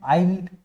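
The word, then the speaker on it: island: और उसके बाद S साइलेंट है, आइल्ड, आइलैंड, आइल, आइलेट और आइलैंडर, ये सारे के सारे वर्ड्स है जहां पर W जो है वो ये S जो है वो साइलेंट आपका हो जाएगा।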